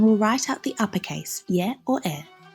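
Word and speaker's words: Ե: or towards the end of a word, it's pronounced E. Let's take our pen and paper now and we'll write out the uppercase. Y or E.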